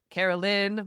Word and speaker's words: Caroline: Cuz like it's Carolyn, but it's spelled Caroline.